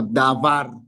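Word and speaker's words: דבר: Y como no tiene puntico, entonces suena V. Si con el puntico sonaría B. Y la vocal de abajo es la misma de la anterior, una Kamax.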